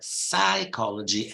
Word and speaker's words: psychology: is a of course these are Greek words and they're psychology and Psychiatry not psychology or psychology